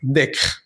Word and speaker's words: décret: Décret. En este caso, la existencia de esa T te ayuda a pronunciar la E, como si tuviera una tilde, pero no la tiene.